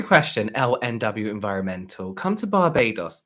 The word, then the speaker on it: Barbados: lnw environmental come to Barbados is it Barbados or Barbados like the Americans say they don't say Barbados Barbados oh that's gonna say